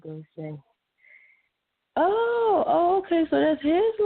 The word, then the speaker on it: Gosha: They say Gosha, and we just politely be like, no, it's Gosha. So we used to it. Yeah, you know what? I'm sitting here now trying to put a hyphen to it so I know that it's an A sound at the end, so I won't mess it up again.